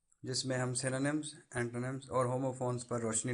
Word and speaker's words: synonym: तो पहले ये मैं बता दूं कि वर्ड सिनोनिम है, सिनोनियम या इस तरह का कोई और नहीं है, जैसा कि मैंने कुछ बच्चों को बोलते हुए सुना है। द वर्ड इज सिनोनिम, इसकी प्रोनाउंसिएशन ऐसे है।